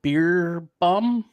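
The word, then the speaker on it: Beerbohm: the actor manager sir Herbert beer bum I think is how you say that his uncle you may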